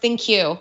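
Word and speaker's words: ThinQ: thin queue platform and yes it's pronounced thank you I have asked about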